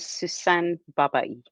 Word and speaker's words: Sussan Babaie: could you each please pronounce your names correctly for me? My name is Niamh Coghlan. My name is Sussan Babaie.